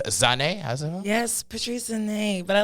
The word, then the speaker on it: Zhanae: I like how the Zhanae, it's a little fancy. Yeah, like Zhanae Monet, or what's her name? Zhanae Monet. Yes. Yes. A little accent on it.